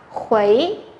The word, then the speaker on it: 回: Từ này chúng ta đọc là khuấy, khuấy.